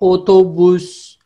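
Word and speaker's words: otobüs: उसके बाद है ओतोबुस, ओतोबुस, ओतोबुस। अब ये ओ जो है ये इंग्लिश वाला ओ उसी की तरह ही प्रोनाउंस होता है, ओतोबुस, ओतोबुस।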